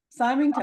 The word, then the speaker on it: Symington: said your name wrong. No, it was right. Symington.